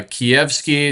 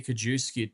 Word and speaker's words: Kijewski: It's uh Kievki. It's like chicken Kiev at ski to the end. If you want to say kajooi too, it really doesn't